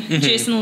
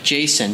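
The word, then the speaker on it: Jacen: they got a son they named him jason but spelled j-a-c-e-n so it's like i guess that's a star wars way of saying jason that's how you spell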